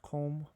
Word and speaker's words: Qom: That's close to, I think that's pronounced Qom, but I'm not positive on the pronunciation.